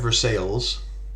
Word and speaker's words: Versailles: Well, we have Versailles, which you don't pronounce like the French. You pronounce the L's.